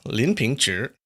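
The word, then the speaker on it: Lin Pingzhi: apparently lit I looked it up at the pronunciation of Lin pinchi apparently it's Lin pincher and I'm not gonna say that uh because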